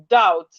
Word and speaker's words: doubt: Then we have doubt. We have words with silent letter B. Words with silent letter B. We have words with silent letter B. We have doubt.